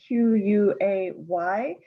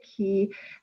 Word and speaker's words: quay: This poem contains the word Q-U-A-Y. For anybody who does not know that word, it's a boating term. It can be pronounced key or quay. I'll say it key, and it's kind of